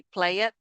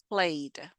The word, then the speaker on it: played: The e is muted. We don't say play it. No, played. Play played.